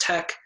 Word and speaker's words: TEC: the Energy Coalition the Energy Coalition or Tec pronounced Tec is a nonprofit organization with over 45 years